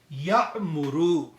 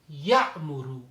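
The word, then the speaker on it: يأمر: Ya'muru. Ya'muru. But only thing is when we have to pronounce that Hamza, which is with skoon, so we have to give little bit jerk there.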